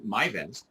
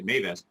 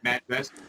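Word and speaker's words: Majvest: And so you brought out the product, MyVest, or Mayvest, I should say, Mayvest. And we use that, which is a perm rating. I personally pronounce it MadgeVest, but MadgeVest.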